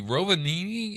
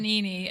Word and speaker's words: Rovaniemi: Rovaniemi, is that the name of it? Rovaniemi, and it's Do you know how to spell that?